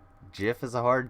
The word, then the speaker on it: GIF: That's a hard G, right? GIF is a hard G.